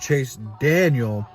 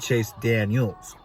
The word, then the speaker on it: Chase Daniel: I've already been told it's pronounced Chase Daniel and not Chase Daniels.